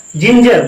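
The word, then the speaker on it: ginger: इसीलिए क्या करेंगे हम, जी के बाद इसका उच्चारण जा करेंगे। जेंटलमैन, फिर जी के बाद ई आया। जिंजर, लो भाई आई आ गया, आई आ गया,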